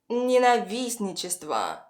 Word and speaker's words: ненавистничество: First, человека, the stress falls on е, человека, and ненавистничество, the stress falls on the first и. Ненавистничество. Человека ненавистничество.